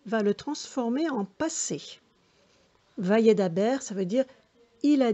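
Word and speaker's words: וַיְדַבֵּר: Alors, voyez, ici, il y a 2 points sous la lettre bête, donc on la prononcera B. Vayedaber.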